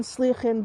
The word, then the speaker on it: Sligachan: Now, I'm going to show you the sign for the hotel just quickly, because I'm saying Sligachan, but you'll be sounding that and thinking, what is she saying?